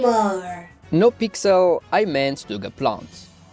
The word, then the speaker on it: Asshimar: Now when we are considering aerial dominance transformable models, one example comes to mind immediately — Pixel: THE ASSHIMAR! ‘(Pronounced Achimar) No Pixel, I meant the Gaplant.